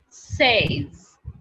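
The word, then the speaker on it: seize: s e i z e and it is pronounced as says says it is pronounced as guys says okay says okay after 16 the next number is 17 and 17 18 19.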